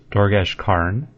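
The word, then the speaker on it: Dorgesh-Kaan: The first one is Dorgesh Khan, which is pronounced Dorgesh Karn.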